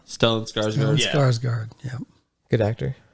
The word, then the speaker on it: Stellan Skarsgård: You got the name wrong, by the way. It's Stellan Skarsgård. Stellan Skarsgård.